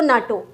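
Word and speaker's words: NATO: जैसे आप इसको अलग अलग नहीं बोलते, UNICEF नहीं कहते, यूनिसेफ कह देते हैं, इसको यूनेस्को कह देते हैं और इसको नाटो।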